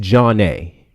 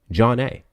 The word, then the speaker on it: Janna: So it's pronounced John A. Okay. It's pronounced John A, which sounds like two separate words, but it's one. It's pronounced John A.